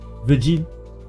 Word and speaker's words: vigil: She definitely says soft G. Vigil. But Faust said hard G.